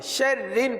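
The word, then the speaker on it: شَرِّ: کو باریک پڑھیں گے، را کو باریک پڑھیں گے. شرن پڑھیں گے. کیا پڑھیں گے؟ کیونکہ را کے نیچے زیر ہے.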